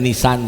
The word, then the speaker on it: Nisan: nama bulan di Ibrani itu tulisannya jadi itu bacanya nisan jadi saya makanya sampai hari ini tidak membeli